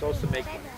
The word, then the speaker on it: Ousamequin: To Wampanoag, Massasoit, It's pronounced Ousamequin.